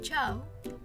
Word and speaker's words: ciao: Tenemos chao, que significa hola, cielo, que significa cielo, arancione, que significa color anaranjado, y con el chu, asciugare.